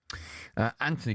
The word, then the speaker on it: Anthony: Anthony, good calls. Anthony's an Arsenal fan. Hi, Ant. Yeah, mate. Are you Anthony or Anthony? Yeah, it is a TH, but we don't pronounce the H.